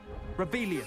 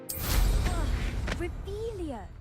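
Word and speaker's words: Revelio: Rebellious saying it wrong. Revelia. Much better.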